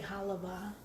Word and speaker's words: halva: And speaking of saying halva, I say halava. I know it's spelled halva, but I don't know why we always called it halava. I guess it's a Philly thing.